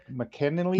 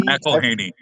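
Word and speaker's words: McElhenney: McKinley? McElhaney. McElhaney. McElhaney. I've heard Mhm. it pronounced a couple different ways.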